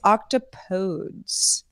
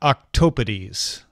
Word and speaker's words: octopodes: Greek and not Latin the proper alternative is octopodes which rhymes with electrode so not octo potties as one might consider